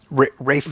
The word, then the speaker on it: Ralph: Uh, Rafe. Rafe. Oh, it says Ralph on IMDb. I knew that, too. As I said it, I was like, that's spelled It's spelled Ralph.